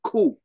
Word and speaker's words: Gu: the Chinese Communist Party G is pronounced like a k like kangaroo so G is co So Kong yes okay